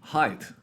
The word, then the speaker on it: height: God kids rhyming uh we see this in height we see this in might when we talk